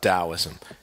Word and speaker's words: Taoism: Now let's talk about Taoism. It's pronounced with the sound of a D, even though it's spelled with a T.